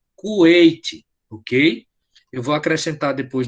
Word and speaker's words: Kuwait: Então, como é que Kuwait, eles não? Não, a gente Kuwait? a gente escreve Kuwait, né, mas pronuncia Kuwait, ok?